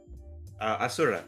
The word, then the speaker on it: Asura: Is that how you say it, Asura? Asura. Asura, okay. The more you know. Like Azure. Azure, yes.